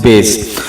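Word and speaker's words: bass: next बच्चों बी A double S again we can call it वी can pronounce it बेस और इसका मतलब होता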